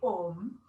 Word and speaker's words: om: but then when the a and the u combine it becomes o so when we're chanting it a properly we always say om but with some of